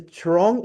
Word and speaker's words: Trurong: Um good evening Mr. Trurong. Is that is that the right pronunciation? That's correct.